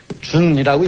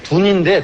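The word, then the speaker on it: 屯: 이건 건괴, 곤괴, 준이라고 읽습니다. 이렇게 쓰고, 둔인데, 둔자인데, 괴 이름에는 준이라고 읽습니다.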